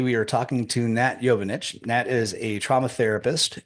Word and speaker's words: Jovanic: It's Jovanic, but it's okay. Jovanic.